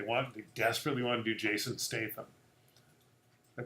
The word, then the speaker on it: Jason Statham: time they they want just really one hbu jason statham i pronounced that right Jason Statham all right and